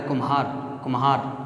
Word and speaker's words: कुम्हार: ये इसका जब हम उच्चारण करते हैं तो ये कुमार पढ़ा जाता है, कुम्हार, तो मैं ज़्यादा आता है, इसलिए ये लघु, गुरु, लघु, इस प्रकार से इसमें मात्राएं आती हैं।